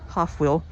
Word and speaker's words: Hofwyl: Dent affixed the name Hofwyl, pronounced Hofwyl, after the Swiss agricultural school he attended.